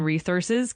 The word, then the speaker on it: resources: Uh, also in resources, keep that emphasis on the second syllable.